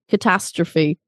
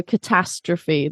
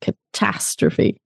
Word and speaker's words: catastrophe: So I always hear it was a catastroph. It was a catastroph. So catastrophe, the tastrophe, the ta is the stress in that word. It's an absolute catastrophe.